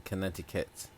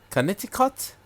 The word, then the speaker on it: Connecticut: Abby says her cousin lives in Connecticut. Connecticut. Yeah. Connecticut. Am I saying that right? Connecticut. Not Connecticut. Connecticut. Yeah. It says cut at the end.